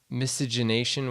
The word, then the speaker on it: miscegenation: sexual perversion, white slavery, miscegenation, which is sexual relationships between white and black races. What's that word? What? I think I might have said it wrong. No, that's right. Miscegenation.